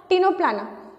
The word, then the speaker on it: Ctenoplana: जैसे कि आप देख सकते हैं स्पेलिंग बिल्कुल सेम है, वहाँ पे फोरा है, यहाँ पे प्लाना है, सी साइलेंट है दोनों में, इसीलिए ये सबसे कॉमन